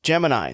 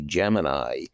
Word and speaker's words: Gemini: In his new book, Gemini, Stepping Stone to the Moon, The Untold Story,